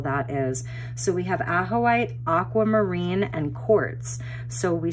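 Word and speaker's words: Ajoite: It's pronounced Ahoite, is a very high vibrational crystal.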